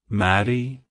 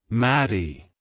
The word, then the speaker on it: Mattie: Charming history and meaning it's pronounced as Marie Maddie Maddie to pronounce it correctly emphasize the mat and the